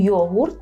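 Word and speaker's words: jogurt: те саме що українською йогурт так йогурт єдине Пам'ятайте про цю букву г Яка не вимовляється в польській як г так ми повинні вимовляти Ґ йогурт йогурт остання полюбила йогурт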